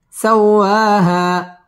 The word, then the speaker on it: سواها: ها ألف زبر ها، سواها.